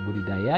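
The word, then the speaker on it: Budi Daja: sendiri sebetulnya dalam organisasi budidaya ya Profesor nah seperti kata budidaya sendiri itu kan diambil dari karya tulis beliau yang berjudul Duo kerajaannya lama ya gue di Daja bacanya budidaya jadi organisasi itu sendiri diambil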